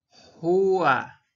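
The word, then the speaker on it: هوَ: Y a continuación le sigue el wow, que se pronuncia como la U. Por lo tanto, aquí nosotros pronunciaríamos ju. Y tenemos además un fatha acá arriba, lo cual completaría esta palabra que se pronunciaría jua y significa él.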